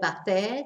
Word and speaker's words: hacer: That's from this verb hacer, to do, H-A-C-E-R, but we don't pronounce the H, so it's ¿qué haces?